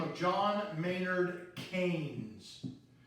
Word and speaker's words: Keynes: name of John Maynard Keynes that's pronounced canes and Keynesian economics is